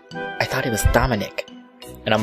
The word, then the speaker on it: Dominic: didn't realize it because she pronounced it Dominique no one else raised their hand so I figured it was me and raised mine right after I did I tried to say uh it's Dominic but I guess I was